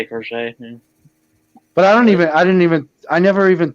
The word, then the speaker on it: Crochet: That's how you say it, Crochet.